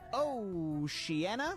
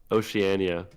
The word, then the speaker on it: Oceania: Next up we have Oceanana. It's interesting because Did you say Oceanana? Yeah. How do you say it? Oceania.